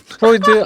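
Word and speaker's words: Freud: 미국에서 지금 어떤 팬분이 보여주셨는데 미국에선 프로이드라고 합니다. 한국에서는 계속 다 프로이트라고 나오는데요. 그러니까 독일말 기준으로 발음해 주는 건데 아시겠지만 이 미국 애들은 자기네 기준으로 영어로 발음해 버리잖아요.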